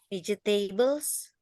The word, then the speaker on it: vegetables: Vegetables. Ya, G-nya dibaca J, vegetables.